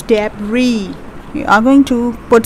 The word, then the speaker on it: debris: it's the remains of the rubbish so it's pronounced as debris it's not dabris it's debris we are going to put stress on the